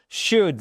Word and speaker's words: should: Should c'est le conseil, c'est le devoir. Tu devrais you should. Alright. Attention, on prononce pas le L ici.